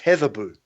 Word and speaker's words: Hedeby: However, the D is based on an old Nordic letter, so it's actually pronounced Heatherbu.